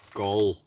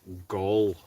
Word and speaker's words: Gall: Just to let you know, my surname is pronounced the same as ball or wall. Sorry, Gall. Gall.